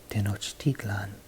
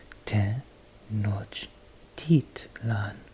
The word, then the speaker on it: Tenochtitlan: capital of theistic empire Tenochtitlan ten notch teat lon did not steeped learn see how the second to last syllable goes up in tone and then falls back down so we're going to